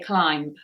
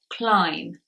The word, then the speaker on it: climb: other is alone and here we have a silent B you don't need to say climb or Lamba nothing like that it is climb lamb so the rule